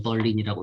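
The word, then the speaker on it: Berlin: 영어식으로서는 아이세야, 그 다음에 러시아식으로서는 베를린이라고 하는데 그 영어식으로 옮기니까 그대로 그냥 벌린이라고 쓰는 독일 수도 베를린의 영어식 철자하고서는 똑같이 나옵니다. 그래서는 어떻게 읽어야 되냐 살짝 그럴 수 있는데 그 영어식으로는 벌린이라고 읽었고 영국에서 원체 오래 활동했었고 영국 사람, 뭐 영국 시민권 갖고 있으니 그냥 영어식으로 이름 불러주는 게 좀 더 나을 것 같아요.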